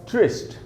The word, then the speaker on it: tryst: और उसके बाद हमारे पास ट्रिस्ट, ट्रिस्ट TRYST, एक भी वावल नहीं है इसमें, लेकिन सारे कॉन्सोनेंट्स हैं, लेकिन फिर भी साउंड आ रहा है वावल का, ट्रिस्ट। ये रहा ट्रांसक्रिप्शन, शॉर्ट ई, छोटी ई का साउंड है।